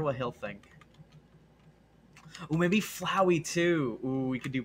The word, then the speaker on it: Flowey: He's a flower named Flowey.